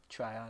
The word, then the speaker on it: Tryon: edge rusher, but I have them taking Joe Tryon. Or Treon. How do we pronounce it? Tryon. I was just looking at highlights of him. They were calling him Yeah. Tryon.